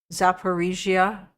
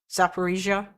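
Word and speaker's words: Zaporizhzhia: Z should be pronounced as J but without D sound um in it like Zaparisia or Kenjal everybody pronounces it wrong as Kinszal it's actually Khal Khal missile Zaparisia okay so I am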